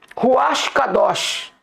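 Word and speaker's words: רוח קדוש: Por exemplo, dentro do hebraico antigo, eles tiraram, irmãos, coisas que, por exemplo, ruash cados é a pronúncia que nós devemos usar no relacionamento com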